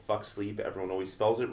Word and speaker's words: Fuxleep: No, I have a clothing brand called Fuck Sleep. Everyone always spells it wrong. It's pronounced Fuck Sleep, but it's spelled Fuxleep.